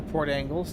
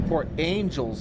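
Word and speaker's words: Port Angeles: We are going to get the Discovery for Port Angles. That does not surprise me. Actually, this is Port Angels. I've been pronouncing it wrong. There's an E in there.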